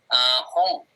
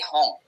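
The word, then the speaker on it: 本: Contohnya buku kan dibacanya itu hong. Bukan hon ya, tapi hong. Itu mau dibacanya hong, mau hong itu okay.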